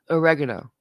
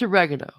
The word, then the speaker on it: oregano: of some italian words like oregano it's oregano not oregano oregano it's simple it's easy slides off the top oregano you guys say oregano it's not right it's not close to